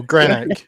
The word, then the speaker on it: Greenock: So, I'm originally from Greenock in Scotland. And whenever I tell people that's where I'm from, or people sort of see it, or they ask me what football team I support, which is Greenock Morton, everybody goes, Greenock?